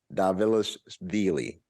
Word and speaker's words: Dvalishvili: UFC Fight Night young versus excuse me Mirage davila's dealy that's how you pronounce his name um they are fighting in